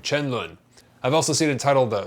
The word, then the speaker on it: 沉沦: Chen Lun is how you say the original name. Chen Lun.